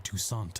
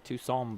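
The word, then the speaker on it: Toussaint: Tusant has to say. It's Tucson, buddy. The tea is silent.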